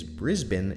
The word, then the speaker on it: Brisbane: The capital of this area is Brisbane, and though it has an A in the second syllable, I've been encouraged to remind you that it is Brisbane and not Brisbane.